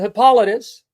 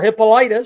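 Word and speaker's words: Hippolytus: to the fathers and Hippolitus or Hippolitis. Some pronounce it Hippolitis.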